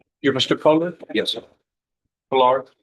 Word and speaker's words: Pollard: Pollard? Yes, sir. The accent is on the first syllable.